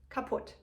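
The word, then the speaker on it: kaputt: We write this a bit differently, so we spell it with 2 T, compared to in the US it's only 1 T. However, in both languages it's the same pronunciation, kaput.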